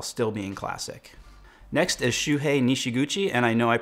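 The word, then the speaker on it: Shuhei Nishiguchi: the moment while still being classic next is shoe hey nishiguchi and I know I pronounced that right because in college I did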